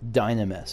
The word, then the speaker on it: Dynamis: of a dynamous reaction dynamess okay so emphasis on the on the first syllable and none is more